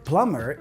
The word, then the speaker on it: plumber: spelling of the word plumber is different to how it sounds this is because the B is silent which means it's not pronounced when you say the word you just say plumber